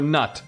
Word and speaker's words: Knut: And for Nut. This is how you pronounce his name. And for Nut, the true king.